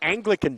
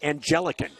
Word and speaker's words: Anglican: So, the Anglican Church is a thing. A N G L I C A N. He pronounced it angelican four times.